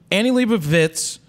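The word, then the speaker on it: Annie Leibovitz: about that okay so Annie Libra vits that's how you say it not wits because there's a v in there I've had to correct myself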